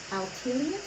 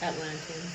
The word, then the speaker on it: Atlanteans: Now you've got evolution vibration with the altilians or how do you pronounce that? Atlanteans.